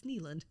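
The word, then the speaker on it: Nylund: And I can pronounce her last name. Good. Which is lovely. Until someone's like, no, knucklehead, it's Neeland.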